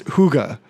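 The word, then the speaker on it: hygge: I want to I want to I want to correct uh last week I called it Higa, which we knew I was mispronouncing it. I think you were closer. It's Huga.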